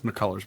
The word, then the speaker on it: McCullers: It's McCullers, by the way. McCullers, yeah, I know. I always pronounce his name wrong.